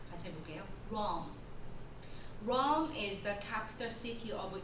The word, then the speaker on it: Rome: 자, 우리가 로마라고 하지만요, 영어로 쓸 때는 Rome이라고 합니다. 같이 해볼게요. Rome is the capital city of Italy.